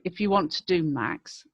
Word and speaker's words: MAQS: And one of the ones that I've said several times before is actually Max, which is spelled MAQS.